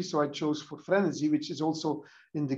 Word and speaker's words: frenesy: I mean, I needed something which kind of rhymes with entropy more or less, which has like to do with frequency, and sounds a bit like energy and entropy. So I chose for frenesy, which is also in